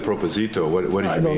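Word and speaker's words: propósito: Yeah, I'm just asking you now, what is, when you said proposito, what did you I don't mean?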